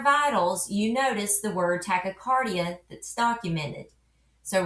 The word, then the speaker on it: tachycardia: The phonetic breakdown is tachy-cardi-a.